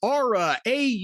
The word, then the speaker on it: Aura: And by the way, it's Aura. Auror A, folks. See, I have no accent. I'm very neutral, so I can pronounce Auraframes.